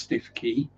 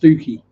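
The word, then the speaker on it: Stiffkey: talking about stifky marshes which is not pronounced stiff key this spell stiff key but it's pronounced stuki so we'll have to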